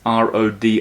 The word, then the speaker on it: Rodin: I wonder if anyone listening is thinking, I don't know this Rodin guy. It's Rodin. I don't know, maybe exactly. foreigners pronounce it differently. Rodin. Sometimes Rodin. Rodin, sometimes, Sometime. but Rodin. Rodin, yeah.